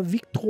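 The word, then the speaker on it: Victoire: começa ali com a Victo Weasley a pronúncia do nome dela é exatamente essa porque é francês e ela recebeu esse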